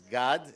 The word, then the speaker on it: Gad: very nice effort uh it's God it's a Hebrew name and S it's a